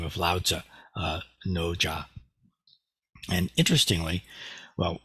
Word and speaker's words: Lao Tzu: in the class because the pronunciation of this character in Mandarin is something like Lao. And it's actually the first part of the name of one of the most famous philosophers in world history, Lao Tzu, or Lao Tzu. More correct modern, at least modern Mandarin pronunciation is Lao Tzu.